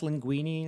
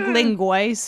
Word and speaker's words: linguine: He's trying to pronounce linguine. It's What like, does he say? He says like linguice or something like that.